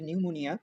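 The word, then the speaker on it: pneumonia: প্রথমে দেওয়া আছে নিউমোনিয়া। নিউমোনিয়া উচ্চারণে পিটা সাইলেন্ট থাকে। মানে পি এর উচ্চারণ হয় না।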